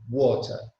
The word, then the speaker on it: water: Okay, in the United Kingdom, we say water because there is a T in there and not a D.